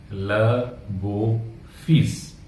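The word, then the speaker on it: le beau-fils: तो जवाई राजा को फ्रेंच में कहते हैं ल बो फीस, ल बो फीस, फीस यानी कि सर, हमने अभी पढ़ा, तो ये हो जाएगा ल बो फीस यानी कि जवाई राजा।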